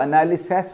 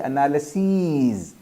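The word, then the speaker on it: analyses: SES कर देता है, मगर कई लोग जिनको प्रोनाउंसिएशंस नहीं पता होती उसको एनालिसिस पढ़ते हैं, नहीं एनालिसीज, एनालिसिस, एनालिसीज, ठीक है।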